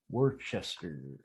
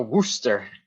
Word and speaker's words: Worcester: I know it should be spelled. It should be WOOSTER.